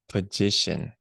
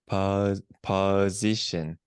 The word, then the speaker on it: position: position for me again petition position there you go that's got it it's more like it was it's almost like magician but with put in the front of it so position